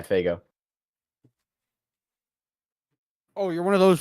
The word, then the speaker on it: Faygo: Faygo or Fago? Yeah, Faygo.